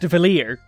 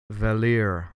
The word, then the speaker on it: Valere: Yes, it's pronounced Valir. Want proof? Valir.